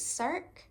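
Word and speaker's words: Circe: to read that and I believe it's cir is how you pronounce it so I am quite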